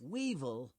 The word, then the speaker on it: weevil: antenna right what's this weevil Weevil rhymes with evil and that's what many